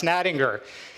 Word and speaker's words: Nattinger: to learn how to pronounce ninger g like a tiger like Tony the Tiger like Frosted Flakes they're great that's how you pronounce my last name if you can't remember that it's also like the G in GIF okay so so now